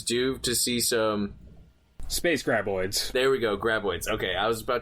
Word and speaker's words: Graboids: So I think Tremors is due to see some space graboids. There we go, graboids. Okay, I was about to mispronounce it again.